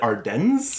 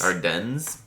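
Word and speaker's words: Ardennes: I think I've always said Ardens. Ardens. But uh Arden, I feel like in proper if it's French, you wouldn't pronounce the S.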